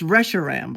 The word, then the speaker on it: Reshiram: It's Reshiram. I looked it up. I Googled it. I listened to Pokémon. Reshiram.